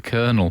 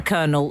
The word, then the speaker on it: colonel: and narrow kind regards the colonel pronounced Colonel is she an actual